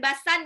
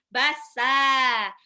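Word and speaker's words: بسا: Bacanya bukan basan ya bun, bassa.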